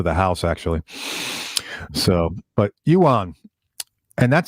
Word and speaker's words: Johan: So, but Euan, and that's how he pronounces his name. I want people to know. Ewan.